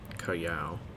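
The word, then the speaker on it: Callao: knows everything says that calio was named for the town in peru and even though it's spelled the same as that town it's not pronounced the same which should have been kayao but it's a tiny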